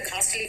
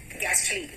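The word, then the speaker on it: ghastly: ना घस्ट को देखकर घासली फीलिंग आती है हालांकि घासली इसका प्रोनन्सिएशन इसका प्रोनन्सिएशन है गैस्टली गेस्ट ठीक है तो गैस्टली लेकिन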